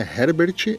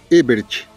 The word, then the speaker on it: Ebert: Não tem H no meu nome, tá? Não é Herbert, é Ebert.